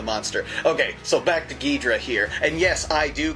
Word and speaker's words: Ghidorah: called him and when you hear it actually pronounced in Japanese it is almost like a gor but it's very quick it's gidra and uh that's how they say it I never hear g Dora g Dora I that's only kind of in